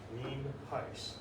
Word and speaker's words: Nienhuis: It's spelled Nienhuis, and it's pronounced Nienhuis.